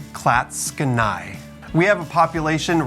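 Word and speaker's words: Clatskanie: town of classical oregon and yes it is pronounced klatskanai we have a population right around 1600 people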